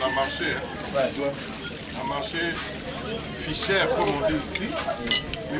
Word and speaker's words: Fischer: On a marché Fischer, comme on dit ici. Mais puisque Fischer était en allemand on dit Fischer, Fischer. Et Fischer signifie pêcheur.